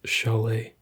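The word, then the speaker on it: Šalé: Probably Shale or some sort of spelling along those lines. It is actually spelled Sale. It is spelled sale, but it is pronounced Chalet.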